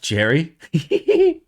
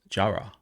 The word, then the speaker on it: Jahre: Pronounced Jahre. German for year.